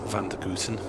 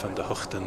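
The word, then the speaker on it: van der Gugten: years yeah i mean he's referred to by a lot of people as uh van der guten but van der hofden is the more correct way to go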